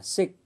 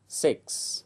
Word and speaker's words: six: của từ ví dụ chúng ta không đọc là fine hoặc là Sick mà đọc đầy đủ là five six vân vân chúng ta